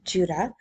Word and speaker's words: Jude: The writer of Jude, pronounced Judah, is actually one of Jesus' four brothers.